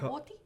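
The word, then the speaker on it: Kahhori: a particular way but the pronunciation pronunciation is Kor kahor Kor very cool make original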